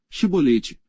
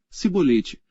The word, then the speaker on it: Shibolete: Então lhe diziam: Dize, pois, Shibolete. Porém ele dizia: Sibolete, porque não o podia pronunciar bem.